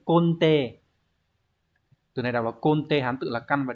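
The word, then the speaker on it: 根底: Từ này đọc là konte, Hán tự là căn và đẻ, có nghĩa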